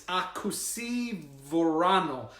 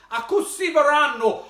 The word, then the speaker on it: Akoho Sy Voanio: But I believe I wrote down how you pronounce it. It's Akoho Sy Voanio. Akoho Sy Voanio. Akoho Sy Voanio.